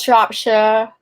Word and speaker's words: Shropshire: But Americans always say Shire, and it's Shire. It's Shropshire. Shire, as in Yorkshire.